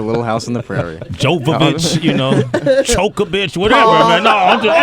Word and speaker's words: Jovovich: I didn't know you pronounced the J. You know what? I think if you pronounced it like the way she does, wherever that name is from, I think you don't, but I've heard Jovovich. Yeah, man.